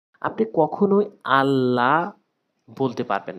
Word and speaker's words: আল্লাহ: না, আল্লাহ বলা যাবে না, বলতে হবে আল্লাহ। হামজা লাম জবর আল্লাম খারা জবর ল, আল্লাহ হাফেশু, আল্লাহ। এবং কখন লাভ বলবো এটি ভিডিওর শেষে বলছি, মনোযোগ সহকারে দেখতে থাকুন।